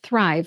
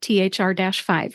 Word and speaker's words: Thrive: And this is pronounced Thrive, not THR-5, right?